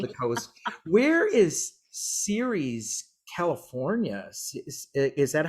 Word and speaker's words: Ceres: Where is Ceres, California? Is that how you say it? Ceres, California? Ceres, it's after the goddess Ceres.